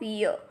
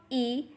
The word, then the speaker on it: yi: As we have already studied, Y has a pronunciation of year. So the first initial is YI, has a pronunciation of E. Repeat after me, E and not Ye.